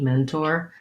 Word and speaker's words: mentor: with a clear tea mentor there's a couple of different pronunciations for mentor so i can say it um with that always has first syllable stress and i may use